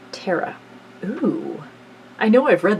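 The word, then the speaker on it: ਤੇਰਾਂ: The number 13 in Gurmukhi, meanwhile, is pronounced Terra.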